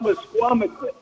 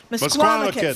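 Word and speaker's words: Misquamicut: It's pronounced msquamit. MSquamakit.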